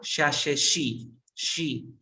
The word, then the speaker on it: she: Como Shakira, she.